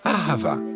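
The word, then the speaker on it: אהבה: On le prononce ahava.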